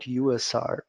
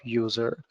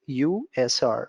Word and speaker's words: USR: Unix shareable resources so I better recommend you to call it USR instead of user user might confuse others and ourselves also so we are going to pronounce it USR full form Unix shareable